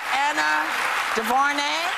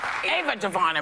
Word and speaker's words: Ava DuVernay: Selma director Anna DuVernay. Ava DuVernay. My bad. Sorry. Pronunciation. I'm sorry. What is that? That said Anna. Oh my God. It's not Anna. It's Ava, y'all.